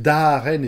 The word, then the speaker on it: Daren: qui s'appelle Daren et pas Darè parce que le prononce et crois que c'est vraiment un prénom un prénom terrien classique qui est tout bleu.